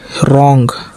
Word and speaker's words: wrong: WRONG रॉन्ग, रॉन्ग का मतलब गलत, W का उच्चारण नहीं हुआ।